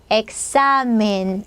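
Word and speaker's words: examen: 어때요 딱시 이렇게 해주겠죠 딱시 딱시 엑사멘 엑사멘 요렇게 엑사멘 이렇게 발음해 주시면 되겠습니다 뒤에 뭐 모음 없으면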